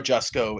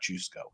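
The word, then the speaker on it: Jusko: certain you know like Joe jusco is not up for debate it's not just go it's just it's just go yeah um because he's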